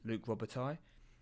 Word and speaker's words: Luc Robitaille: thank you Dan Leary that his name is Luc Robitaille or that's how you would pronounce it so okay we've just